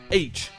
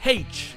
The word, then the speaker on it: aitch: la redoutée lettre "H" c'est à dire "aitch". Ou peut-être que c'est "haitch" avec un "h" au début avec le son du "h" qu'on apprend tous à l'école ! Oui on trouve déjà un problème dans la lettre elle-même ! Enfin... pas vraiment parce que la version officielle c'est "aitch" et l'autre est considérée comme incorrecte.